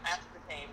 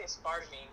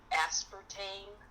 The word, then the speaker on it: aspartame: Oh, wait, aspartame. That's how you say it. I always say it wrong. I always say aspartame, because that's how it looks like how you're supposed to say it, but it's aspartame.